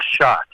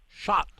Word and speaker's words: Schadt: it's very politically correct it sounds like shot like a gunshot what yeah well Keith